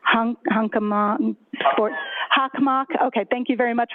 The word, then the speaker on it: Hockomock: Hockomock. Okay, thank you very much for the pronunciation.